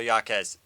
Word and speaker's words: Jaquez: They've got Gabrielle Yaquez. I learned how to say the last name. Kiki Rice. And in this game against UC Santa Barbara, Rice had 20. Jaquez had 21.